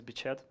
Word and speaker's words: Beched: So, my nick is Beched. Actually, the proper pronunciation is Beched.